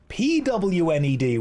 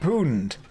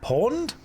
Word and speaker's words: pwned: Like pony. It's owned, but with a P.